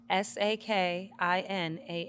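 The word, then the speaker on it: Sakinah: butchering the out of the pronunciation how's it spelled s a k i n a h s a k i n Sakina that's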